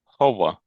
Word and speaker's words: hover: I think you're sort of running those sounds too sort of too much together. So, I don't think the V isn't quite clear enough on its own. So, you're you're running that sound too quickly with the E R after it.